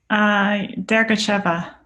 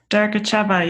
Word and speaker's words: Dergacheva: Dergacheva. Get that, Nick? Dergacheva. You think of it like, you know how to say Gorbachev? You say Dergachev.